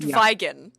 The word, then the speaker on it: Vigan: It is pronounced Vigan. Vigan, not vegan. Like the dietary thing, by the way.